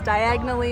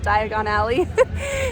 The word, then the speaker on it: Diagon Alley: by Floo powder and says diagonally instead of Diagon Alley. So sometimes I say it wrong.